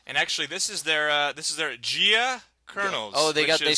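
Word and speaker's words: Gaux: And actually, this is their Gia Colonels. Oh, they is, spell it the Cajun way you spell go. Yeah. G-A-U-X. Go. Go.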